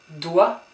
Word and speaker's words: doigt: Doigt. So you don't pronounce the G, don't pronounce the T. Doigt. So doigt. And gauche.